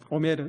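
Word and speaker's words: עֹמֶר: 여러분, 성전에 바친 이 초실절의 첫 보리단을요, 히브리어로 이렇게 읽습니다. 한번 같이 읽어볼까요? 그 첫 보리단을요, 오메르라고 읽습니다. 오메르, 이 첫 보리단을요.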